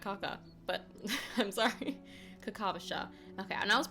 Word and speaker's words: Kakavasha: Kakavasha. Okay, and I was I was putting the emphasis on the wrong part. I was saying Kakavasha but it's like yeah Kakavasha. Where did you go?